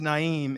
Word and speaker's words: Naim: I mean, my name's Naim. It rhymes with naive just about.